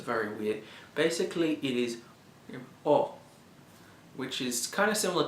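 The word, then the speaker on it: を: looks like a wasp the second one is technically considered a w even though the W is silent so it's very weird basically it is oh which is kind of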